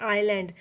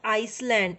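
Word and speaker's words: island: है, उसको बोलते हैं आइलैंड. इट्स आइलैंड नॉट आइसलैंड. ऐसी साइलेंट हेयर.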